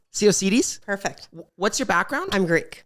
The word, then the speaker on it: Tsiaousidis: Tsiaousidis. Tsiaousidis?